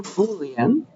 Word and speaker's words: Boolean: cute little type it's called it's short for Boolean boan that's how you say it and uh